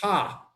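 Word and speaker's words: ห้า: about thailand is that the number five is pronounced ha so when we laugh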